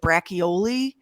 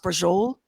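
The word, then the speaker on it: braciole: c i o l e it looks like brachii yeah but it's pronounced Bol oh buddy is it good the the migon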